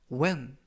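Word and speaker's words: when: 표현이 되겠습니다 이번 표현은 웬 웬 웬 이라고 발음 하시면 되겠구요 이 때 유의하실 점은 알파벳 h 가 이번 단어 에서는 묵음 이라서 발음이 되지 않습니다 그래서 팬이 아니라 웬 이라고 발음 하시면 되겠구요 품사는 접속사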